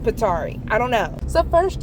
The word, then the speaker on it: Pithari: that my sister found, possibly called Pasari. If it's not pronounced that way, sorry. I think I have a Mediterranean ancestor and they're saying it's pronounced Petari.